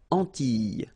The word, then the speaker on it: Antilles: So here it's quite interesting because, well, you've got this E and then double L, S. Okay? So final S and E, really you don't pronounce them. So you get this E sound.